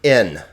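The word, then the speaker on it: ἐν: we have the word in but it has a smooth breathing Mark okay and that smooth breathing Mark is not pronounced so this word is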